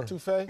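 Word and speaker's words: étouffée: Is the etouffee? Score. Etouffee?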